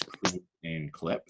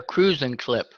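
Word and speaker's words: Cruisin' Clip: So You're saying it wrong. It's a cruising clip. A cruising. Like they're cruising, like they're out cruising. A cruising clip. Okay. A cruising clip, not cruising clip.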